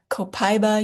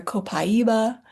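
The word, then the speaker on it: copaíba: We didn't even know how to pronounce it. You might hear Copaiba, you might hear Copaiba.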